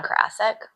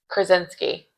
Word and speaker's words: Krasinski: John Karasik? No. Are you sure? Or you're saying it wrong. Yeah, it could be. Because Krasinski.